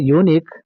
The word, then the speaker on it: unique: Again in the word unique even though there is a letter u that gives the sound y u. So y is consonant we have to use the article a.